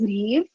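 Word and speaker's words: Niamh: five times a day uh my name is leave it's pronounced me rhymes with steve uh gaelic names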